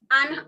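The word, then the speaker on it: Inde: It is the softer sound the, so don't say the, but it is and. Like in English we have shoe and sock, bread and butter, that and, but just make the sound, and.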